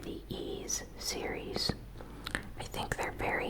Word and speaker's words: Ys: the action RPG series ease pronounced ease and it's spelled with the Y and an S will be launching in